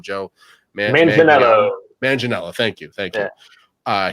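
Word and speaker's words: Manganiello: with the deathstroke joe min i can never pronounce his last name joe manginella thank you thank you uh he's such a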